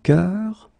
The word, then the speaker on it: cœur: is un bœuf, un cœur. Un cœur, it's actually quite interesting, because even if you write them differently, you pronounce them the same way.